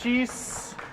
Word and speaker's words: Cheese: It's actually pronounced Cheese. It rhymes with geese, fleece, and ease, people.